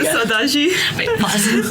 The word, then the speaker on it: Saudade: Saudade. Wait, pause. Saudade. No, yeah. Okay. Really close. Chega de Saudade.